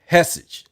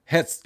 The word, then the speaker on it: Hegseth: Now, the Secretary of Defense Secretary, Pete Hegseth, Hegseth. Hegseth. I think the G is silent.